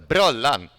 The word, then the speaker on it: Brollan: I mean, we can go with the Swedish pronouncements as well. It's the brollan. Yeah, that's how to pronounce it.